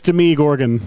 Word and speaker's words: Demogorgon: It's Demi Gorgon. That's how it's pronounced.